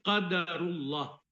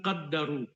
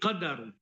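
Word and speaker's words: قدر الله: Jadi bukan qaddaru, bukan qaddaru, tapi qadaru atau qaddara. Jadi dua ee cara baca terhadap ee kalimat ini tidak boleh keliru.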